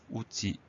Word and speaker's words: outil: Outil, O-U-T-I-L, on fait très attention à ce L muet qu'on peut retrouver dans utiliser. Si on y pense, outil, O-U-T-I-L.